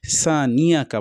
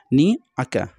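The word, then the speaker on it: شانئك: অনেকে সানিয়াকা পড়ে, নিয়াকা মানে হচ্ছে কায়ের আগে ইয়ার উচ্চারণ নিয়ে আসা, এটা একদম ভুল, মানে নিয়াকা পড়া চলবে না। আমাদেরকে অবশ্যই নিয়াকা, নি আকা এটা পড়তে হবে।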